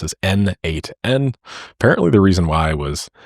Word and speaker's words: n8n: that it means node mation and it is pronounced as n8n apparently the reason why was he just didn't